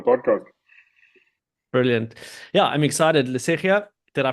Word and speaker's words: Lesetja: Lesetja, did I pronounce that okay? Lesetja, like Lesetja.